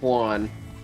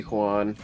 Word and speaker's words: Juan: Well, hold on, you will see Juan. Stop saying it like that. Juan. The thing that triggers me most when people say Juan is when they say Juan. Like it's just pronounced W-A-N.